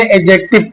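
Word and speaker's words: adjective: है कि जो है जे से पहले डी हो तो डी क्या हो जाएगा साइलेंट हो जाएगा और उसको क्या पढ़ेंगे एडजेक्टिव पढ़ेंगे एडजेक्टिव क्या बोलेंगे एडजेक्टिव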